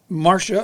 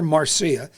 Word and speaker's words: Marcia: The most famous among them was one Madame Marcia, or Marcia, both pronunciations work, Champney.